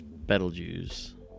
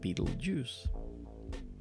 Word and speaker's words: Betelgeuse: It's Betelgeuse, not Beetlejuice. Or Betelgeuse. I don't know. Yeah, The Beatles there. Betelgeuse.